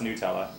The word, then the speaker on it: Nutella: that was that was the best is it pronounced Nella not no it's newella it's newella okay I had no idea oh you could